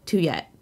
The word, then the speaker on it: Tuyet: horror movies all day i'm but you can call me two yet i love that okay